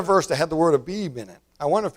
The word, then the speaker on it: Abib: This is Abib. The Hebrew people say Aviv. They spell it A-V-I-V, Aviv. But I'm English, and I got a King James Bible. It's Abib.